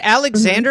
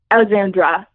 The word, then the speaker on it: Alexandra: you like that yeah is it Alexander or Alexandra Alexandra okay saying it wrong every time yeah but that leads